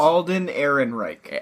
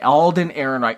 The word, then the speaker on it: Ehrenreich: Because you always make fun of how I pronounce it. Alden Ehrenreich. Alden Ehrenreich.